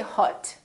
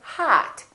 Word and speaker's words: hot: the word hot h-o-t we don't say hut we say hat it's pronounced exactly as the ah in the words father or army or watch so the o